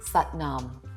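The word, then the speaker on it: Sat Nam: looks like satam but it's pronounced sat as in but and Nom as in calm sat Nom so our hands again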